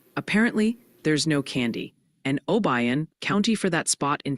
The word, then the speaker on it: Obion: Also, the pronunciation police are back. They're gently suggesting it's McCandless, Pennsylvania. Apparently, there's no candy, and Obion, county for that spot in Tennessee.